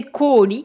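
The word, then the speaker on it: 北極: Ici, les kanji choisis sont ceux du pôle Nord. Mais la prononciation, apparemment, c'est koori, qui veut dire la glace.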